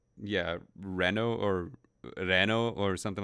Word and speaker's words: Reno: I know him as it's I think it's technically Leno but in Japanese they can't they don't pronounce L's like that I guess right Reno yeah so yeah it's it's probably like yeah Reno or Reno or something